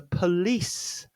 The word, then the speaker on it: police: This word has two syllables. This is the police.